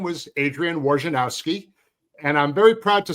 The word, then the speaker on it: Wojnarowski: And it used to drive me nuts that they always kind of pronounced your name the way it was spelled as opposed to.